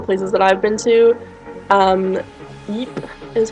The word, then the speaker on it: Ypres: of all the places that I've been to, Ypres is how I was told to pronounce it, in Belgium, is definitely one of my favorite cities in the entire world.